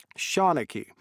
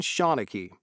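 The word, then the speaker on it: seanchaí: Liam how do you say it shanicky a modern shanicky that means Storyteller that's how real people say it but it's all right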